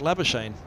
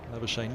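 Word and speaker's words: Labuschagne: morgue he said that the welsh are about the only ones who can pronounce my name properly never shane not being the well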